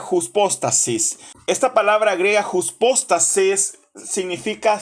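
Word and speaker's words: ὑπόστασις: Otros dicen upóstasis o hipóstasis. Lo pronuncian de diferentes formas. Aquí lo vamos a llamar hypostasis.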